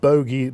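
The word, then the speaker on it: Bhogi: Number 1, I believe it's pronounced Bogi, B-H-O-G-I.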